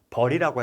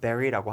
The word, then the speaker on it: bury: bury 발음도 중요하고요. 왠지 버리라고 해야 될 것 같죠? 하지만 bury라고 한다.